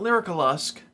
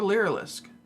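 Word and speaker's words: Lyrilusc: it's not lure Lusk it's not lyrical Lusk it's a lyric or lyricalisk depending on your dialect there's no like C in the middle of there can we can we stop mispronouncing this this hard it's like you're begging for another syllable also my other thing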